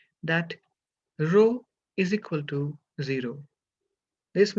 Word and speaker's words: rho: similar to small p it's a Greek alphabet and it's pronounced as rho so row is equal